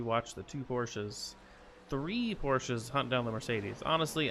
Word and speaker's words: Porsche: to him or Shaw I always say it wrong it's not a Porsche it's Porsche everyone but these three Porsches